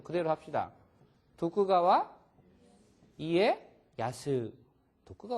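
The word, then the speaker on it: 徳川家康: 이거 어떻게 읽어 그러 덕천가강 일본 사람한테 유 덕천가강 알아 그러면은 하나도 모르지 덕천 가강 어떻게 알아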